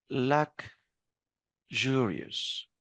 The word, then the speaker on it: luxurious: Now the next word, pay attention. We pronounce it as luxurious.